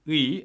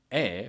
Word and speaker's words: 의: it still makes sense, you can say 의, and it's sometimes pronounced as 에 by many people, including myself. And if of doesn't have